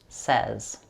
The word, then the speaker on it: says: The word says is spelled like say, but it's pronounced says.